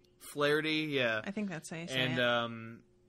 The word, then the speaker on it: Flaherty: there and they show up they mow down flattery or was how do you pronounce it again flaherty flaherty yeah i think that's nice and lamla